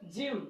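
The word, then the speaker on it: gym: है इसलिए यहां पर जी के बाद आई है इसलिए जी का उच्चारण क्या होगा ज होगा इसलिए ज ज मतलब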